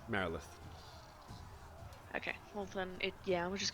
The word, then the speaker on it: Marilith: I thought it was a Marilyn. It is Marilith.